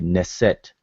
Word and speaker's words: nst: But so when we say neset, it's just basically putting a arbitrary e in between each of the consonants. So n, as far as how I'm pronouncing it, Neset, but it'd be nst as far as the transliteration.